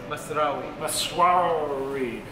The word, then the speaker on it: Masrawy: John, how do I pronounce the name of this restaurant? Masrawy.